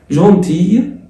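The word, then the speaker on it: gentil: جونتي ال بتتنطق اون جونتي كده ال ما بتتنطقش جونتي وحلو.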